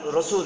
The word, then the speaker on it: রসূল: হবেন রসূল মোহাম্মদ তো রসূল শব্দটা আরবি বাংলায় রাসূল না বরং রসূল শুদ্ধ উচ্চারণ হবে রসূল আপনারা হয়তোবা লেখাটি বুঝতে